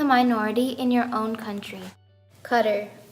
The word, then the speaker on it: Qatar: Qatar, often mispronounced as Qatar, has an incredibly high ratio between migrants to citizens.